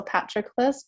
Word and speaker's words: Patroclus: pronunciations going on yeah it's either like patroclus or patrick-less but brad pitt says patroclus in the movie so i think you should follow bradford's lead oh i was gonna